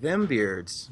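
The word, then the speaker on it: Dhem Beards: But a little research indicates that the DH sound is actually pronounced in Tolkien as a TH, as in then. So the product sounds like them beards, but it's spelled dem beards.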